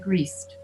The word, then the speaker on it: greased: Why do you think they're both pronounced like a T, like grist and greased? Because S is silent, not voiced.